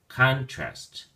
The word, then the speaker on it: contrast: or as a verb when you use it as a noun the emphasis or stress is on the first syllable con so then we say contrast contrast if you use it